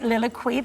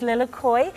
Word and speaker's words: lilikoi: koi even yes because i was pronouncing it lilliquee but it's lilacoi um and this is